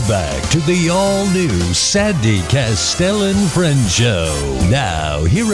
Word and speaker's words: Kastel: They always call me Castle or Castile or I don't know, whatever they call me. But it's Kastel, like pastel with a K.